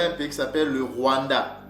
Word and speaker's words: Rwanda: Donc Rwanda, Luanda, c'est le même, ce sont toujours des Bantous qui ont donné ce nom-là, d'accord? Donc le R a le son du L. Donc ce mot-là se prononce Wula, Wula ou Yuwula, qui veut dire la peau.